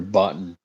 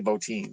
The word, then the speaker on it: Bottin: Phibes or however you So do you say Do you say Bottin or Button? I know some people pronounce it button. I've heard it both and I've heard Carpenter pronounce it both. Um I've heard uh Rob Bottin say Bottin, so that's what I go with, but I've heard both.